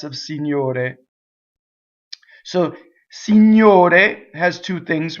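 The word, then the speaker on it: Signor: but it has new GN is like new or a write lasagna like lasagna lasagna if you're Italian see new day new day okay so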